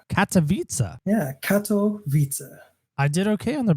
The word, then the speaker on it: Katowice: But for now, I'm in Poland, enjoying my stay here in a city called Katowice. Katowice? Yeah, Katowice. I did okay on the pronunciation.